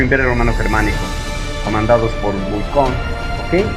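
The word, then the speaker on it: Bucquoy: Se enfrentaron el ejército protestante al mando de Ernesto Mansfeld contra el Sacro Imperio Romano Germánico, comandados por Bucón. ¿Ok? Usted le puede pronunciar simplemente Bucói.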